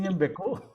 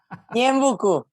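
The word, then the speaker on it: Ñeembucú: ¿Pronuncié bien Ñembecú? Ñembucú, Ñembecú, Ñembucú.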